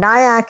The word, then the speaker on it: Nayak: And then Nayak is like kayak with an N.